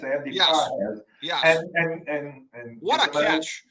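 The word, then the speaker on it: Pagés: His name is is spelled pages but it's pronounced pahes. Andy pes.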